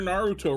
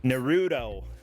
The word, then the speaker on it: Naruto: Justin is trying to correct my pronunciation of Naruto. Justin's a weeb. Cordet just called you a weeb. 3 syllables. I know, Naruto. Go. No, that's 2 syllables, Justin.